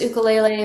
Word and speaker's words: ukulele: So I got my first ukulele back in, oh my God, I don't know, it's been forever ago.